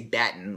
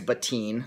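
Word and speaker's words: Battin: was written by BW I believe it's pronounced but teen I used to say baton like an ignoramus but I think it's but teen like Robbo teen this book was published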